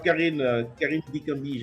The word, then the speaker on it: Carine Dikambi: Alors, Karine Dikambi, j'espère que je prononce très bien ton nom, c'est ça? Oui, oui, merci, tu prononces très très bien mon nom.